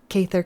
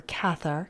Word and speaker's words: Cathar: touch pretty nice creature cther Commando or cathar Commando depending on how you want to pronounce it then we have the